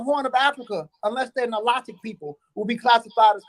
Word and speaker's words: Nilotic: Now Nilotic, you have Nil or Nile, Maybe in America people will pronounce it Nilotic, in French we say Nilotic.